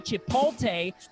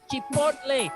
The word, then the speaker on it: chipotle: And please don't say chipotle, because it's chipotle. It rhymes like the corn with mayonnaise. Elote special.